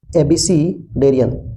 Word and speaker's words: abecedarian: इसका प्रोनाउंसिएशन है एबीसीडेरियन, मतलब नौसिखिया या शुरुआती में।